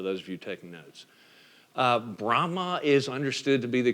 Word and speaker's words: Brahma: The 3 of the main gods of Hinduism would be Brahma, not Brahman, right? But Brahma, you just drop the N off the N, B-R-A-H-M-A, right?